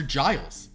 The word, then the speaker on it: Giles: from the poem Giles is it Guiles or Giles it's Giles but that's my name wrong